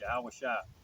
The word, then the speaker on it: Yahawashi: in my first off you got the name wrong it's yahawashi okay and for you